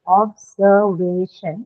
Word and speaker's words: observation: have observation, and because there's a shin suffix, you're going to mark it on the syllable right before the one carrying shin, which is the third syllable way, right here. So you mark the stress here.